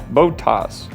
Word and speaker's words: Bottas: Going to sign Valtteri Bottas. Bottas. That's how you say his name.